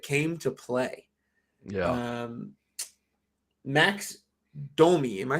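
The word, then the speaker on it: Max Domi: unsung heroes that came to play yeah um max domey am i saying that right you're saying it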